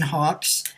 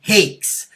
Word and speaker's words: Hakes: humor I always say it rhymes with chocolate cake with an h and an s on the end there go I I